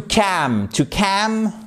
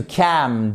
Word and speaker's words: calm: To cam. Vous ne prononcez pas le L. To cal down, c'est se calmer.